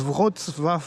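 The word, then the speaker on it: Wrocław: On est dans une ville qui s'appelle Votv. Alors, je crois que je l'ai prononcé bien. Ça s'écrit Row et ça se prononce Votf.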